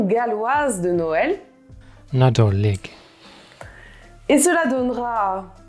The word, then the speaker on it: Nadolig: Mais par contre, aujourd'hui, j'ai la chance d'avoir un invité de premier choix qui va nous donner la prononciation galloise de Noël. Nadolig.